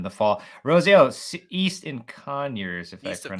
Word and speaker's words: Conyers: Rosie, East in Conyers, if East I of pronounced Conyers.